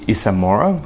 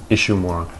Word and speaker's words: Ishimura: Set 3 years after the events of the Isamora. Oh, Jay, it's the Ishimura. Look, I'm pretty sure I know how to pronounce Japanese words, okay?